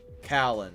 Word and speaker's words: Callan: How do I say this guy's name? Callan. That's how you say it.